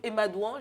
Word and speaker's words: Emadouan: Donc, Emadouan, j'ai bien prononcé.